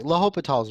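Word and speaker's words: L'Hôpital: Okay, L'Hopital's rule. And yes, I know that it's spelt like hospitals. Okay, whatever. It's L'Hopital. Okay, L'Hopital's rule, 6.8.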